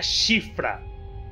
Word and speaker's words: Siofra: por causa daquela TV mas é sim se pronuncia chifra não me não questionem é simplesmente isso mas